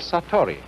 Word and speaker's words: satori: is in japanese in zen it is called satori i'll write that down it's an unfamiliar word